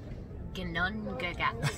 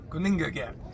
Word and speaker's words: Ginnungagap: Ginnungagap. Gunungagap. Gunungagap. Gunungagap. Sometimes the G is pronounced like a Y almost at the beginning of words.